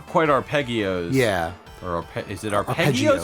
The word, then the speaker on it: arpeggios: 64 Like not quite arpeggios. Yeah. Or is it arpeggios or arpeggios? Arpeggio. Arpeggios. It's a soft G.